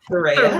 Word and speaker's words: Thurraya: Did I pronounce that correctly, Thurraya? Yes, Thurraya.